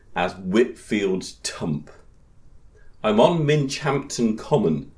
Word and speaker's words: Minchinhampton: Whitfield tump I'm on Minch Hampton common spelled Minchin Hampton but pronounced Minch Hampton in gler England it's